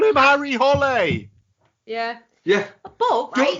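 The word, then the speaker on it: Hole: It's book seven of the Harry Hall series. No, it's not actually pronounced Harry Hall though in the books, is it? Is it not? No. Don't tell me it's Holly. It is actually Holly.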